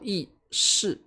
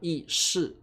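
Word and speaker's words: 意识: 好，特别注意这个自我意识，台湾念 4 声的意识大陆念意识。好，这个发音两个地方很不一样，并且开始讨厌什么呢？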